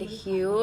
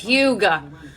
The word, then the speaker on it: Hue: Ilia Mario lip liner in the shade Hue I was literally pronouncing this Huga I'm just I'm such